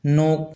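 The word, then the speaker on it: knock: नोक नोक में भी के साइलेंट रहता है।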